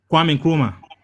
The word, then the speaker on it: Kwame Nkrumah: The reason why I can't pronounce his name. What's his name again? Kwame Nkrumah. Okay, Kwame Kumar.